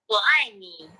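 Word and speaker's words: 我爱你: It says that word is wo ai ni. Now it's going to tell me how to say it. Wo ai ni.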